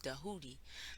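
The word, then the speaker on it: Djehuti: taught by tahuti or as we properly actually spell it with a d it's like DJ pronounced in a way of dahudi that's also known as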